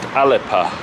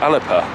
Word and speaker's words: Alba: And also, interesting the word that actually I pronounce as Alba, is actually Gaelic is pronounced Alepa. With a pa, Alepa, which I didn't know.